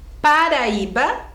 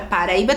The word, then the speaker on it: Paraíba: O I fica sozinho. É isso mesmo. Mas ele é o mais forte, é a sílaba tônica.